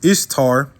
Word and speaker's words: Ishtar: Okay, her name was Ishtar. Okay, pronounced Easter in English.